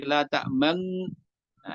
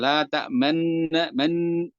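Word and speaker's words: لَا تَأْمَنَّا: Ini catatannya adalah jangan sampai berbeda bunyinya menjadi la ta'man. Nah, ini beberapa ya masih baru belajar biasanya terlalu berat di situ. Sehingga membacanya la ta'man man, kalau menekan man gitu. Maka sekedarnya saja selayaknya asalnya yaitu dengan dhammahnya. La ta'manna. Tidak berlebihan dalam membunyikan dhammahnya, itu suara dhammah ya.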